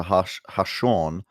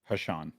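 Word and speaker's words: Ha'Sean: grandmother in response to Hashawn often being pronounced like Sean instead of the intended. Hashan. Wait, what? It's Haseen. complicated. Haseen is how they want it pronounced.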